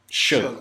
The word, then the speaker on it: Suge: Suge. Suge.